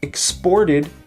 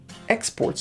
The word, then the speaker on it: exports: syllable exported and here when it's a noun the stress is on the first syllable exports so very often in